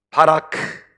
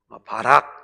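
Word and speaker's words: בָּרַךְ: 바라크, 바라크, 바라크, 바라크. 바락 이렇게 얘기해도 되지만 그냥 원어 좀 그대로 발음을 콩글리시 발음으로 바라크.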